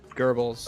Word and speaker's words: Goebbels: all he deserves worse goobles pronounce gobbles again please is that wrong wait what just what was it good goebbels all right well that's how you pronounce it oh there you